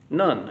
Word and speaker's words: Nun: None. And it's pronounced pretty much like that. Actually, it's just slightly different, but it's not different enough to, I think none is close enough.